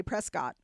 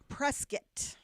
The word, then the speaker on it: Prescott: You'll get booed if you say Prescott. Well, what is it then? Prescuit. Prescuit. Okay. Prescuit. Like biscuit. I'm going to Prescuit.